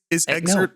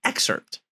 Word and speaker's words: excerpt: Is exert like a custard? There's a P in. Yeah, I love my exert. The P is silent for real.